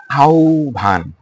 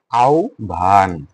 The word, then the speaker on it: আহ্বান: প্রথমে দেখো, আহ্বান। দেখো, স্বরে আছে না, স্বরে আছে না, আমরা কি বলছিলাম, স্বর ও বা স্বরে আ থাকলে তারপরে যদি হয় ব থাকে, তো স্বরে আছে তার সাথে কি হয় ব আছে, রাইট? তাহলে উচ্চারণে কি হবে ও ভ। দেখো, যেমন আহ্বান।